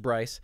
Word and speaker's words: Bryce: And is it Brick, Bryce? It's pronounced Bryce.